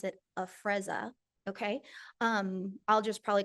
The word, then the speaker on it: Afrezza: So what is, you pronounce it Afrezza, okay?